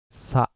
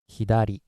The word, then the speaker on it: 左: this one okay uh Chinese sty rating is sa and Japanese style rating is hiar which means left all